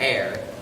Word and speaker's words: heir: Heir is spelled H-E-I-R. Murders in the Air.